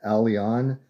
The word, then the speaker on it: Aleon: I want you to can you pronounce my name correctly? It's Commander Alon.